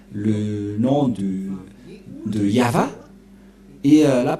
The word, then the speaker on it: Yahvah: yava yava et on va voir comment on prononce cette parole yava il Shama yavashmo et nous allons voir son